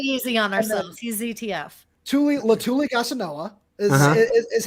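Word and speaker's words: Letuligasenoa: Latuli Gasanoa. Is how it's pronounced, and he's actually a really, really talented guy.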